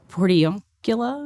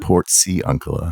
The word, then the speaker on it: Portiuncula: Tell me a little bit about, and I looked at this last night because I'm gonna mispronounce it. Everybody does. Okay, is it Portiuncula? Portiuncula. Portiuncula.